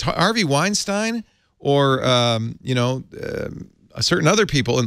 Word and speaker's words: Weinstein: It's Steen, I think, but anyway, okay. Yeah, I don't know what it's right. Who cares? Weinstein would be the correct pronunciation. Harvey Weinstein. But he manages to pronounce the two things with different vowels.